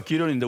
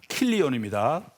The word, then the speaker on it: 기론: 하나 말론과 기론인데 우리말로 그래 되는데 히브리 발음 마흘론하고 킬리온입니다.